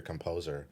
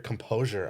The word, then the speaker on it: composure: You said keep your composer. Yeah. It's keep your composure, I thought.